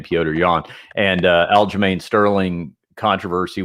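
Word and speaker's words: Petr Yan: that you're talking about uh peter yan and the uh the uh piotr i should say i believe it's cyber pronounced his name piotr yawn and uh al-germain sterling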